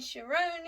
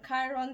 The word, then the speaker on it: Chiron: And Sharon is here, or Chiron, depending. Yeah, how you pronounce that name, is here.